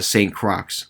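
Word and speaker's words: St. Croix: go back oh uh saint crocs this st crocs island that's with an x by the way the x is silent um apparently some of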